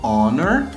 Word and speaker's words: honor: Então, o H, por exemplo, ele é uma consoante, mas dependendo da palavra, você não vai pronunciar ele como honor e hour.